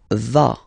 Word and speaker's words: vas: Final S doesn't exist. Tu vas.